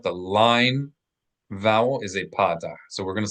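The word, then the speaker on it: פתח: So the line underneath a letter, a flat line, is called patah. Accent the first syllable.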